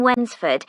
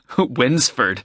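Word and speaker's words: Wednesford: for the bus fare winsford that's funny it's like when's the food no it's spelt w e d n e s f o r d it's a village a few miles out of town anyway friday is our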